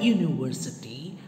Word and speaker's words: university: wrong ways are wrong the word university begins with the sound y ya ya the letter ya is it a swarov venjana it is a vengeance it's a consonant it's not a bubble so since the word